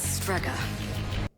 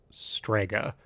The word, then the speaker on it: Strega: say they called themselves sprega no they don't um I I hate correcting people but that's not how you pronounce that it's pronounced Strega I what are you